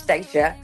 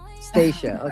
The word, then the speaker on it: Staca: It's Staca. So, like Anastasia, but not Anastasia. Staca. Staca.